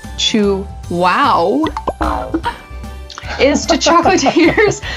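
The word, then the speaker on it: Chuao: Chew-ow, pronounced chew-wow, is to chocolatiers like Mount Everest is to climbers.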